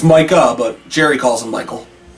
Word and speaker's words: Micah: Jones did about it, he always called him Michael Parsons. He can't pronounce Micah. Micah Parsons.